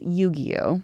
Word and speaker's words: Yu-Gi-Oh!: It's Yu-Gi-Oh! Oh, it's Yu-Gi-Oh? Yu-Gi-Oh! Yu-Gi-Oh! Yeah, Okay. Yep, it's a hard G.